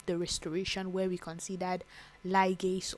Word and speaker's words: ligase: And of course, we have the restoration, where we considered ligase or ligase as you may pronounce it, which helps to splice together short DNA fragments.